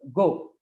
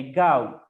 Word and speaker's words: go: pronounce it in india we pronounce it like go but its pronunciation is go which we cannot say i go you need to say i gow i go so like